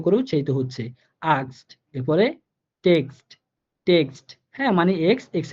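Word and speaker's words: Text: এরপরে টেক্সট টেক্সট, হ্যাঁ মানে এক্স এক্স এর মতো করে উচ্চারিত হইতেছে।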